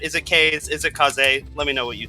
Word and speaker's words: Kaze: in this game now k-a-z-e to me uh that spells k's so uh i'm probably i'm pretty sure i'm saying it wrong in fact the developers of the game have confirmed that it is supposed to be kaze but go ahead and